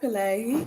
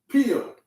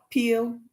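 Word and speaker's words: Peele: Oh, Jordan Pillay. He is such a genius. Who? Jordan Pillay. Am I saying his name right? Jordan Pillay. Poole? Is his name pronounced Poole? No. Peel.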